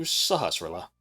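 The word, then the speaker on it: Sahasrahla: Take it to Sahasilla.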